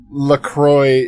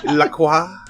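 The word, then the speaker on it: La Croix: Laqua. Hey, we've been informed that that is incorrect. You can't say it like a French person or else you go to jail immediately.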